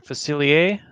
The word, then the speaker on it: Facilier: okay we got a couple guesses here dr facilier is that correct steve that is correct did i pronounce it right yes all right actually i